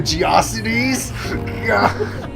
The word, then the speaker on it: GeoCities: I would pronounce it GeoCities. Yeah, me too at first. I was like GeoCities, but no, it's Geocities apparently. Because when we used that in one of my science classes, that we used a Geocities website for like that stuff. Our teacher's like, it's pronounced Geocities, not GeoCities. I was like, oh, whoops.